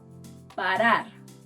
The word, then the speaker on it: parar: The first sound resembles the R in butter. It's called a flap, and you'll find it in words like parar, parar, to stop.